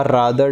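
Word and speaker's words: rather: फिर this is रादर, या रेदर भी बोलते हैं इसको बहुत से। मैं रादर बोलता हूँ क्योंकि मैं स्पेलिंग सही लिख देता हूँ इसलिए, ठीक है।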